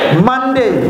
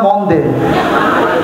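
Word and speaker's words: Monday: Saturday যারা বলে না তাদের মুখে যত চলবে Saturday Saturday সানডে সানডে মানডে মানডে আবার ভুল করে বইলেন না মন দে মানডে টিউসডেস ইউকের যারা নেটিভ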